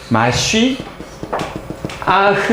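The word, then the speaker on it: מָשִׁיחַ: 여기에서 파생된 게 우리말로는 메시아라고 얘기하고 정확하게 이제 히브리식으로 발음하면 마쉬 아흐 이렇게 발음됩니다.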